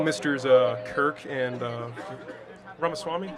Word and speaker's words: Ramaswamy: thank you hello mr's uh Kirk and uh ramaswami right yeah yeah uh so WR pronunciation right there I appreciate that thank you